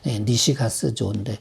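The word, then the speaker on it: 西勝造: 다른 나라 사람이지만 일본에 니시가스조, 한문으로 선역서자, 이길승자, 만들조자, 서승조라고 쓰긴 그렇게 쓰고 발음은 니시가스조인데 니시가스조라는 사람이 얘기한 것 중에 사람이 자세가 나쁘면은 건강이 절대 좋아질 수가 없다.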